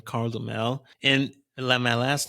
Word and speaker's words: Dumesle: Uh, and it's my name, Carl Demell, and my last name is spelled D U M- SL E.